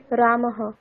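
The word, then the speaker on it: রামঃ: আচ্ছা হ্যাঁ ম্যাডাম পড়ুন বিসর্গ বিসর্গের উচ্চারণ হকারের মত হবে যেমন রামহ এখানে উচ্চারণটি হবে রামহ অর্থাৎ যে স্বরবর্ণের পরে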